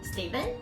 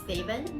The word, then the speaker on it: Stephen: So as you can see the spelling of name, it looks like Stephen. So it actually has two kinds of pronunciation. If you prefer Stephen, you can just go for the spelling and then the sound is Stephen, that's okay. Or you like Stephen, that's fine too.